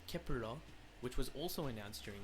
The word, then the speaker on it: Kep1er: nine members of kepler the name kepler pronounced in korean as kepurang which was also announced